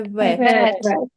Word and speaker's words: vet: It's like well, wow. But this is like vet.